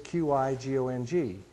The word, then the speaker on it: Qigong: So the Pinyin spelling for Qigong is Q-I-G-O-N-G. If a Westerner, in terms of us, Holly, does this, then they would spell it C-H-I-G-O-N-G.